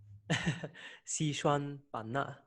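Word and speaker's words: Xishuangbanna: How do you pronounce it, please? Sichuan-Bana.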